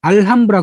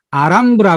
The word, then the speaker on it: 알함브라: 브라 궁전 이라 그러죠 알함브라 공작 알람브라 보는건 영어 시기 그냥 아람 브라 브라 옥수수 스페이시 h 가 묵음 이거든요 그러니까 아란 부라 나왔으니 맞겠죠 그래서 이아람 브라운 저는